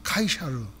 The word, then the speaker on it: 카이사르: 근데 그의 아버지가 율리어스 시저, 율리어스 카이사르. 발음에 따라서 카이사르, 시저. 그다음에 성경에는 가이사, 이게 가이사 이렇게 얘기해.